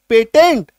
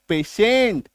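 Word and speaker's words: patient: पी ए टी आई ई एन टी। इसको क्या बोलते हैं? पेटेंट नहीं पेशेंट तालव्यश।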